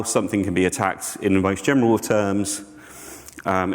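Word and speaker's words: ATT&CK: so miter attack um yes it is an and but you kind of say it like attack um adversarial tactics techniques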